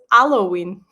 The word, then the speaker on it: Halloween: Anyway, so Halloween is celebrated in certain cities in Portugal, and we don't call it Halloween, we call it Halloween.